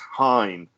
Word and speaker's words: Hine: Hine says it's pronounced Hine or like the ketchup Heinz without the Z behind they'll say on